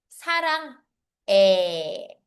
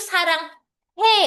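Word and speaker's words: 사랑해: Katulad din nito it's sarang e. Sarange hindi siya 'yung sarang he. Okay? Iba 'yung sarang he. Sa sarang eh. Iba 'yun. Take note na lang.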